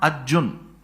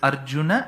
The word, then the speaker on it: Arjuna: that extra a because in samsam you should never ever complete the last letter by cutting half of its pronunciation it's not Arjun it's Arjun that akaram